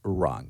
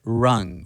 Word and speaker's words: rung: was the other word rung rung when we pronounce this word we barely produce the g sounds say run run controlled immigration any rapid